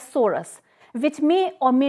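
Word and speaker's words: sorus: a sorai in singular we can say it or pronounce it as soros which may or may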